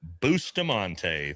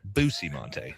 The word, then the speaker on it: Bustamante: And yes, with us today, the everyday spy, Andrew Bustamante. Thanks for joining us. It's pronounced Bustamante, actually. Sorry, Bustamante.